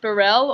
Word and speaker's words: Burrell: way, is it pronounced Burrell? It can be pronounced Burrell or Burrell. Like, my family all say it a different way, so either one is good. Which one do you say? I say Burrell, but I might change that.